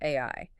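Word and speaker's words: 愛: The kanji character for love is pronounced AI, and that specific character is drawn with exactly 13 brushstrokes.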